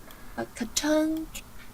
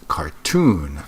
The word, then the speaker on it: cartoon: cartoon. See, the stress is on the wrong syllable. It's cartoon, not cartoon.